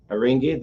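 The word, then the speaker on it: Haringey: uk i know um a rengay a ringgit that's the proper pronunciation having gay yeah ringgay right is one of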